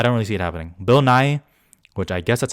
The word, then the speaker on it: Bill Nighy: Bill Nighy, which I guess that's how it's pronounced, not Nighy.